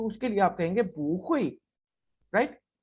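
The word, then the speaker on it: 不会: यहाँ पे देखें हुई के ऊपर फोर्थ टोन है, नेचुरली बू के ऊपर भी फोर्थ टोन होती है, लेकिन जब आप प्रोनाउंस करेंगे तो बू के बाद फोर्थ टोन होने की वजह से बू की टोन चेंज होकर सेकंड में कन्वर्ट हो जाएगी। और कैसे बोला जाएगा? बू हुई।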